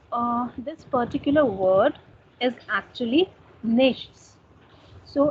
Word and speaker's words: nichts: So, this particular word is actually nichts. So, in the colloquial language, German people and Schweiz people basically they pronounce it as nix.